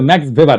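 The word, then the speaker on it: Max Weber: না আরেকজন দার্শনিক আছে ম্যাক্স ভেভার এটা ওয়েভার বলে অনেকে এ উচ্চারণ আসলে ভেভার তার একটা লেজিটিমেসি এবং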